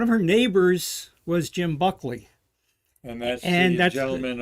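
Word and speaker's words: Buchli: uh how did you say his name uh buckley buckley yeah b-u-c-h-l-i bob springer is in the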